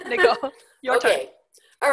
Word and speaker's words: Nicole: So Americans are all familiar with that, and they know it's pronounced Nicole. But most of my students, the people I work with, are coming from other languages, and they have kind of internalized that the stress goes on the first part of an American name.